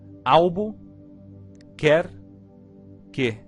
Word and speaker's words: Albuquerque: A maneira de aprender a pronunciar Albuquerque é quebrá-la em 3 pedaços menores. Assim, albo, quer, que.